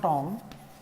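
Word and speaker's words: tomb: you call in hindi in english it is tom okay b remains silent in the pronunciation so it's a it's a rock caught tom yes its a its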